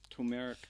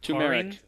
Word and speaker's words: turmeric: ginseng ginseng and and tumeric tomato i never say that turmeric turmeric something that we can't pronounce